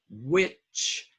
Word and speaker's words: which: away low word watched which now this H has no sound some of you try